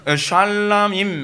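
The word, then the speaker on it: שלמים: 그 히브리어에서 s를 붙이게 되면 뭐로 발음이 되냐? 임으로 발음 되거든요. 그래서 그이 샬람임 하게 되면 이제 복수현이 되는 거예요.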